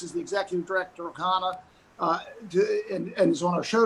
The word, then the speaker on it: CHANA: Start by telling us a little bit about the organization and help me pronounce the name correctly. Absolutely. So the organization is called CHANA, and we are a program of the Associated that was founded 25 years ago.